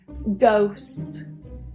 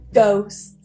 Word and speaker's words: ghost: one is a ghost so that H is silent ghost ghost some people do ask